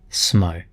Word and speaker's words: Smough: But from the research I've done, the suggestion here is that Smough is pronounced just like that, Smough, with a little emphasis on the U.